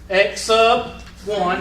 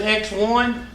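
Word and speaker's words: x₁: concept what is this x sub 1 that's what you call that's how you pronounce it don't pronounce it x1 because that technically is 1x you say x sub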